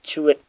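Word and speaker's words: Chirrut: Forrest Whitaker as Baze Malus, blind guy as Chewit. Yeah, that's how you pronounce it.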